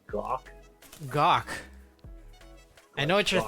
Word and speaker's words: Gok: We got my co-host Andy here on the call, but Moon Operator and Gok, welcome to the stream.